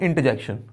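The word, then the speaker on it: interjection: यहाँ पे इसमें भी आर थोड़ा साइलेंटली है, बोले तो इसको इतना तेजी से रैपिडली से हम बोल देते हैं, इसमें आर की थोड़ी सी वैल्यू खो जाती है, इसको हम बोलते हैं इंटरजेक्शन।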